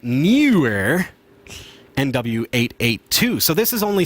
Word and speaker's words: NEEWER: The NEEWER, you got to say it right, NEEWER NW-882.